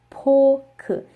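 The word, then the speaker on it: 포크: And in Korean it's pronounced pork. Now you may have been confused and thought that this was pork, but it's not.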